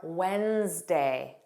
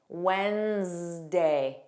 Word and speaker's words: Wednesday: Other random words with a silent D are Wednesday, Wednesday. No D at all in pronunciation.